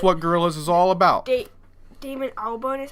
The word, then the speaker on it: Damon Albarn: Damon Albarn is how you say Yeah.